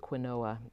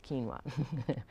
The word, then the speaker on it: quinoa: q UI and OA i used to pronounce it Quinn Noah nope it's quinoa so then there's also